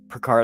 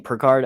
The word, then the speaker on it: Picard: one that picards it Picard I keep saying per card I know it's Picard I pronounce it wrong too um I don't